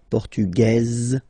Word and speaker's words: portugaise: You don't pronounce the S, feminine form, portugaise, you pronounce this Z sound, okay?